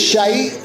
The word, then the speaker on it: shite: semen means i'm drunk it's shite we all know what that means but i don't know why you guys say it like that because there's no e on the end slag is what ma